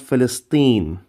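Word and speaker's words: فلسطين: add a heart instead there you go it's pronounced philistine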